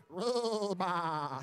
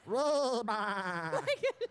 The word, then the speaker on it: Reba: Say hi to Reba from Target, but she told me to pronounce it Reba. What was that? Reba. Like a sheep, you know?